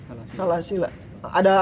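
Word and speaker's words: سلاسل: Kalau kita wasol itu nggak bakalan dibaca alifnya. Inna a'tadna lil kafirina salasila wa aghlala wa sa'ira.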